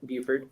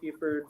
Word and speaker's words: Buford: Am I saying right? Yep. Did I say it right? Close enough, Buford. What's up, guys? I'm Nick Buford from Wholesale Gadget Parts.